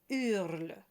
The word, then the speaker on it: hurle: And the third one, just so that you know, it starts with a silent H. So it's hurle.